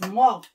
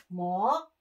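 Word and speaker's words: 목: Neck is Mok. Okay? Mok.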